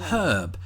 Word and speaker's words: herb: And sticking with food related stuff is the word herb and as you heard just there I pronounced it with an h at the beginning because there's an h there.